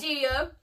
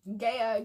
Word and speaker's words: Gaia: We didn't introduce Gaia, however Gia. You pronounce her name. Gia. She is the main antagonist of the Heroes of Olympus series.